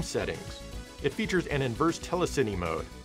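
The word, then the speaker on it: telecine: it features an inverse telecity mode I'm pretty sure it's pronounced telesini as it seems to combine television and Cinema which is kind of what the word basically means oh well who cares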